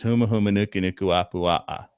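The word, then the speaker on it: humuhumunukunukuāpuaʻa: And the Hawaiian pronunciation of the state fish is huma huma nuku nuku apu a.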